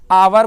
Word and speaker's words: hour: देखिए इसको उच्चारण कीजिए तो आवर बोलते हैं। क्या बोलते हैं? आवर। आवर ना उच्चारण होता है। शुरू में क्या आया? ओ आया, आया ना।